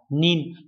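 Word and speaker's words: 人: Nhưng mà khi mà đếm người phải đọc là nin, do vậy chúng ta loại 3 và 4.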